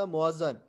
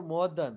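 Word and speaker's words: muezzin: So, Muazzan or Muaddan. Muaddan is in the Arabic literature or in the Arabic font. But for us, we will pronounce it as a Muazzan.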